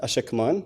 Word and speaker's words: Ashekman: I'm glad that you pronounce it ASHEKMAN, because some people, wink wink, we know who, pronounce it ASHEKMAN or ASHEKMAN.